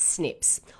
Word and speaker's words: SNP: is single nucleotide polymorphisms frequently called snps pronounce snips or mutations and these